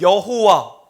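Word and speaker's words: Jehovah: 하나님께서 친히 자기의 이름을 여호와 혹은 야훼로 발음할 수 있죠.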